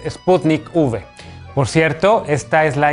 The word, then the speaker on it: Sputnik V: se llama sputnik 5 la ub no corresponde al número 5 romano sino que hace referencia a la palabra vaccine o vacuna así que no caigas una paparruchada la forma correcta de pronunciar el nombre de esta vacuna es sputnik v por cierto esta es